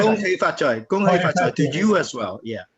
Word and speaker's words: Gong Hei Fat Choi: Ko Hei Fat Choi, is that right? Ko Hei Fat Gong Choi. Hei Fat Choi. Gong Hei Fat Choi to you as well.